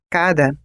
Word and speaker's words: cara: da palavra por exemplo cara tem a primeira sílaba tônica e a segunda átona e cará tem a primeira sílaba átona e a segunda tônica cada palavra tem um